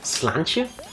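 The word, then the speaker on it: Sláinte: you go back no I think it's pronounced slantia but if you don't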